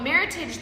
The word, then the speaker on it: Meritage: So Meritage, the word itself is a blend of merit and age and rhymes with heritage. So this particular blend is our 2012 Meritage from Time Estate Winery.